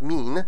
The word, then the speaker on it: min: and mi n with a single and is pronounced mean and it means who who who is there